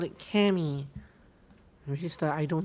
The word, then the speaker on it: Kami: So Chris calls it Kami, the Japanese way. Whereas Ava called it Kami, which is the I don't know what language kind of way.